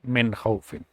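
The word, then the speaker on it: من خوف: Nun Sakin is Kha, and Kha is an Izhar letter, so we'll pronounce it normally, Min Khawfin.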